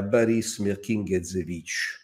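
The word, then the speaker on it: Boris Mirkine: è da scrivere a baris mering lo pronuncio alla Fran perché fu naturalizzato francese era nato in in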